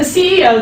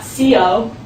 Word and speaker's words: CEO: You can say, my company's CEO, and you pronounce it like that, not CO, CEO.